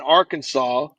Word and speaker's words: Arkansas: uh um kansas and arkansas that's how you pronounce arkansas yeah they they didn't want to be associated with kansas so they made their own pronunciation and they didn't want